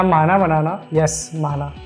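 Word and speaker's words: 만화: Web comic या माना बनाना, यस माना, जो कोरियन वेबटून होते हैं जिन्हें हम मानवा बोलते हैं, असल में वो मानवा नहीं होते, माना होते हैं। उसमें W साइलेंट होता है।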